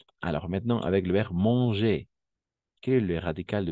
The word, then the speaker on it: mange: Et vous mangez, d'accord? Vous mangez, tel quel. Vous mangez. Ici, on va prononcer les terminaisons. Et une fois encore, il ou elle mange. D'accord? Mange. Mange. Pas mangeant. Mange.